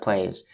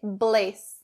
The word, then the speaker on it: place: is in the word place place be careful and don't change the don't say blaze bliss not correct place place so this phrase is